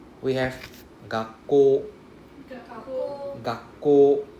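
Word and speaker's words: がっこう: Remember, you see the OU? OU means it is a long O sound. And then we see double K. So that means the first K will pronounce together with the first part, right? So the first word is ga. Ga. If I have a K, then it's gak.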